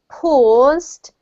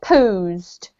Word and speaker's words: paused: and the last one just be careful about paused um it sounds a little a little bit like posed so he paused he didn't pose i don't think posing